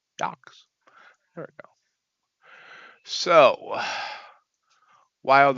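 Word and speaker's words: YOOX: G-Man, I don't know how to pronounce Y-O-O-X. Yox. Yox.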